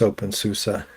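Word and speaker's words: openSUSE: I actually think I would lean more towards open susa. Um, no, it's it's I was just messing with open s Yeah, it was pronounced open sus, but uh it's written open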